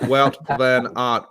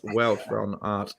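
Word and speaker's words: Wout van Aert: on pronouncing flemish names not root but welt plan art pronounced welt from art so there you go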